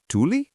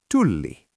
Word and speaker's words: tulli: Is it tuli or tulli? Tulli. Brilliant. You've just mastered the most difficult part of Finnish pronunciation.